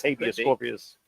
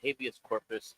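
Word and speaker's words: habeas corpus: that a Mexican food or something what is habus scorpus well a habus corpus is when you uh Corpus are say it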